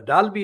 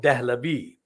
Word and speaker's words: Dahlavi: Now, Dalvi is spelled Dalvi. That is actually a distortion, anglicized distortion of Dahlavi.